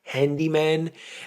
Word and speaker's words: Handeeman: There is a channel called Handyman, and it's spelled Handeeman.